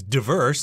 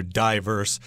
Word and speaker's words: diverse: And I should mention diverse could also be pronounced as diverse. That's what I learned, but I do hear diverse said quite frequently.